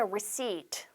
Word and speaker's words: receipt: 자, 그 다음에 please give me a receipt. 여러분 영수증 이 단어는 발음이 중요하죠. 가운데 있는 P 발음하시면 안 돼요. receipt가 아니라 receipt. 장음으로 receipt.